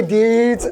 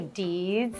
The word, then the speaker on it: dudes: Hey, dudes. Did you just say deeds? Deeds. What's deeds? Dude. Oh. Dudes. But if you say it like you're from San Diego, hey, deed.